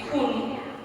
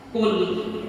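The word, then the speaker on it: قل: Tapi kita bacanya pakai kul, tidak pakai qaf, tapi pakai kaf biasa yang tipis. Qul huwallahu ahad.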